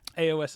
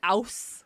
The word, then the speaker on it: AOS: Is AOS the right way to say that? Or it should always be said Age of Sigmar? AOS is absolutely the common abbreviation. Thank you. I wasn't sure if we pronounced, is it Aus? No. No, absolutely not.